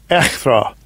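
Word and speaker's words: ἔχθρα: I'll get the pronunciation. Strong's G, 2189. Echthra.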